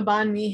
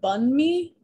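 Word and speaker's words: bánh mì: enticing personally um the bond me handbook which i actually learned from this book it's pronounced bun me um yes and the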